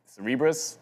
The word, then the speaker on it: Cerebras: Today is you know Cerebras, I'm supposed to say it.